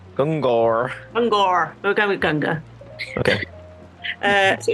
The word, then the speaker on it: Gungor: I'd say Gunga. Gunga. Okay. I don't know if I'm correct. Let's go with that, because from where I'm from, like originally, it'd be Gungor. Gungor. We'll go with Gunga.